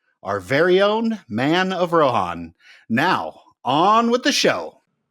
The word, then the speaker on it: Rohan: Is it Rohan or Rohan? Have I been saying it wrong the whole time? Okay, so it's Rohan. It really is.